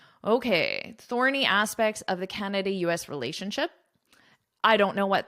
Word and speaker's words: Canada: So a lot of students will put the stress on the wrong syllable, or they won't put any stress on it. So it's Canada. It's not Canada.